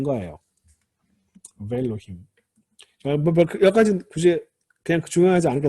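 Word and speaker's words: וֵאלֹהִים: 이거는 ve가 아니라 알레프 무구마까지도 같이 해서 베일로힘이라고 이렇게 발음합니다. 베일로. 알레프 때 무구마 된 거예요. 베일로힘.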